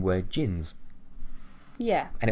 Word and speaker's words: djinn: Another word for them, or like their original name, were Djinns. Yeah. And it was spelled D-J-I-N with a silent D.